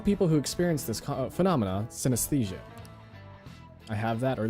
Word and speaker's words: synesthesia: I was like, I feel like I'm gonna pronounce this wrong, but no, it's synesthesia.